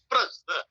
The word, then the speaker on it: प्रस्थ: ये है करेक्ट उच्चारण, काल मापन की प्रायोगिक विधि है प्रस्थ।